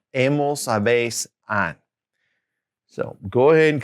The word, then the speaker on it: habéis: And then that vosotros form is habéis, with that accent on the E, habéis.